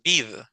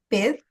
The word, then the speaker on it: bed: una doble e verdad no es bid cómo sería solo con una e Bed Bed Bed correcto cuando hay doble e Entonces ya usamos la i de email verdad como B como abeja ver o fe de pies pero si solo hay una solo es e es una e corta jerem contigo terminamos